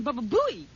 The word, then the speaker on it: Baba Booey: Well, I thought this was a special pronunciation, because he kept saying Baba Booey.